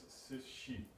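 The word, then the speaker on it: Cixi: nails whose name now X in opinion is pronounced with SH so it's s she is her name and U she is The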